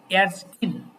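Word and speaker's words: Ärztin: আর female হলে তখন হয়ে যায় umlaut এ, তখন হয়ে যায় umlaut এয়ারস্টিন, তখন হয়ে যায় টিন হয়ে যায়। স্ত্রীবাচক হলে উচ্চারণটা কি হবে?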